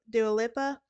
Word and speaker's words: Dua Lipa: up with celebrities artists such as Dua Lipa do a LIPA that's how you pronounce it are currently very close to Brand